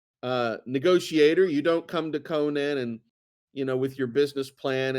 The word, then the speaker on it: Conan: So it looks like it's, and the other thing too is, Conan, Conan's name is Conan. His name is not Sonan.